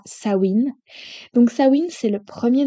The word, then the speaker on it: Samhain: fête préférée, qui est la fête de Samhain ou bien Samhain. Je vous l'ai dit avec les deux prononciations pour que vous puissiez peut-être la reconnaître en fonction de vous, comment vous la prononcez. Mais pour moi, ce sera Samhain.